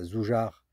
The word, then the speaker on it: Zújar: Ce petit bain à Zoujar, ça se prononce à peu près comme ça.